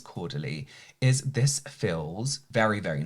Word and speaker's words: Caudalie: What I will say, with all credit to Caudalie, I've been saying it wrong this whole time. I think it's Caudalie.